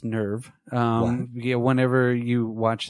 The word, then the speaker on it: NERV: this point right nerve which is not pronounced nirav it's nerve you know whenever you